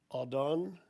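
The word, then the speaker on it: אָדוֹן: The word used is Strong's number 113, pronounced Adon.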